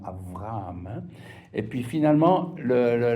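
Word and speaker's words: אברהם: Le deuxème c'est B qu'on prononce B ou V quand il est dans le mot par exemple Abraham. Les si vous entendez les juifs en parallèle en hébreu diront Avraham.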